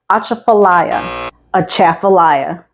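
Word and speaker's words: Atchafalaya: a challenge it's spelled like that and it's pronounced aaala aaaaya the aaala Basin is the largest swamp in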